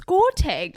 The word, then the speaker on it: Gauteng: Gauteng, as it's called. I didn't even know how to pronounce it properly until I went there.